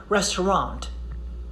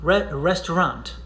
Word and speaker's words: restaurant: air it's okay but at least don't pronounce the final t and it comes from